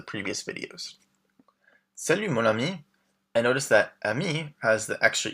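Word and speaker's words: amie: So, ami and ami are pronounced exactly the same.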